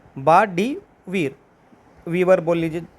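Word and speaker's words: Bart De Wever: Correct answer है बार्ट डी वीर, वीवर बोल लीजिए, जो जैसे आपको प्रोनाउंस करना है, वीवर, वेयर, ई वी को थोड़ा साइलेंट कर लीजिए, बार्ट डी वेयर, ठीक है।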